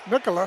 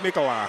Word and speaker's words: Nikolai: Nicola. Is that how you pronounce it? It's Nikolai.